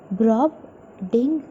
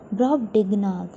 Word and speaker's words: Brobdingnag: So let us pronounce with me Brobdingnag. So together Brobdingnag. Brobdingnag.